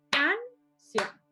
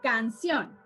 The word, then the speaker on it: canción: Yo no digo canción, yo digo canción. Yo no digo pared, yo digo pared.